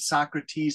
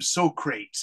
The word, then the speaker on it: Socrates: two boys have to go back and meet Socrates and ask them questions but they're not very good students they're kind of stupid students so they say his name they call him Socrates instead of Socrates and so they they say